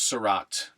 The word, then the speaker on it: Seurat: minutes we have together so this is Georges Seurat Georges Seurat or Georges Seurat sriracha's se you